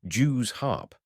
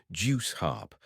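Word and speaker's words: Jew's harp: He objected to the customary pronunciation of Jews harp, insisting that the word should be juice harp, and instructing the actor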